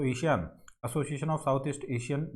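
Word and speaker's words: ASEAN: तो एशियान का तो आपको एशियन इंडिया, एशियन नहीं एशियान बोलिए इसको, सॉरी यदि मैं एशियन प्रोनाउंसिएशन कर रहा हूँ इसका, तो इसको आप एशियान बोलिए।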